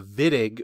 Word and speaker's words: Wittig: some weird terminology here the wittig with a v and then illid with